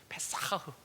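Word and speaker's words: פסח: 이 발음이 어려워요. 페사흐.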